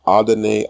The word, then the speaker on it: Adonai: The same expression appears in the LXX translation of Psalm 86:15, where it renders the Hebrew Adonai Al.